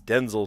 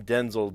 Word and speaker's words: Denzel: he said, "You know, people are naming their kids Denzel and uh actually that's not what my daddy called me cuz my daddy is Denzel Sr. and I'm Denzel Jr. And these people are calling them their their kids Denzel, but really it's actually Denzel."